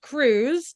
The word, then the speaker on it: Cruz: yes I wrote a book called The Last Cruise now Cruz is spelled with a z it is Spanish for